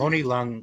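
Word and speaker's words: Tony Leung: Tony Lo or how do you pronounce his name? Tony Long.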